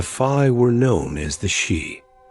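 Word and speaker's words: sídhe: The fi were known as the shei. The name is pronounced like the word she.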